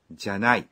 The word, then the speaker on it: ではない: অমার্জিত বা নৈমিত্তিক কথাবার্তায় অবশ্য এই ではない কথাটিকে উচ্চারণ করা হয় じゃない তাহলে পুরো কথাটি হল 大丈夫じゃない এই ছিল টিচার আমাদের বুঝিয়ে দিন পর্ব।